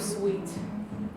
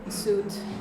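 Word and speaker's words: Suite: Adobe guys um and that word on the bottom it's not suit even though you feel like it's suit because this is a suit that men wear it's sweet and this those of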